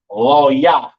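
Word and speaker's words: לוי: And you pronounce Levi in the Hebrew, Loya, Loya, right?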